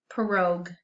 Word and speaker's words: pirogue: This word comes from another language, so it's going to be a little different in its spelling. So it's pronounced like this, pirogue, pirogue.